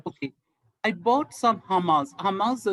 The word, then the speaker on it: hummus: Hummus is like it's actually pronounced hummus.